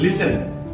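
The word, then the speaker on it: listen: এস টি ই এন লিসেন লিসেন বানান অনুসারে কিন্তু এটার উচ্চারণ হওয়ার ছিল এল আই এস টি ই এন অর্থাৎ লিস্টে কিন্তু যেহেতু টি সাইলেন্ট থাকবে সেজন্য উচ্চারণটা হবে লিসেন আর লিসেন শব্দ অর্থ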